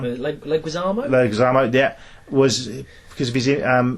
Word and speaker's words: Leguizamo: But the reason he wasn't cast, and they went for, I always pronounce his surname wrong. Leguizamo? Leguizamo, yeah, was because of his improvised comedy, and they wanted him to bring a lot of that to the role.